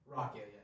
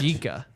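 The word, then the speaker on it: rakija: Rakia, yeah. Wow, I didn't know that. It's spelled like Rakia, right? It's spelled like garage. Rajika. Yeah, Rajika.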